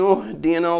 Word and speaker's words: اهدنا: الله اهدنا الصراط المستقيم يخطا بعض الناس في قراءه كلمه اهدنا حيث لا ينطقون بالهمزه في بدايتها هكذا اهدنا الصراط بداعي ان هذه الهمزه همزه وصل وهمزه الوصل تحذف مطلقا والصحيح ان همزه الواصل تحذف في اثناء درج الكلام هكذا اياك نعبد واياك نستعين اهدنا